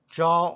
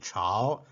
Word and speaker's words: 朝: hanging in the sky Joe means morning this represents plants Moon repeat after me Joe Joe this character has another pronunciation ciao the sunflowers turned towards